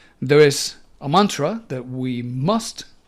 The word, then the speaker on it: Is: And the mantra is pronounced Is. Master Samael says, the letter S should be pronounced like a very gentle whistle.